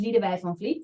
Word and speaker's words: Lidewij van Vliet: My name is Lidewij van Vliet. That's actually how you pronounce it, but it's difficult, even for Dutch people.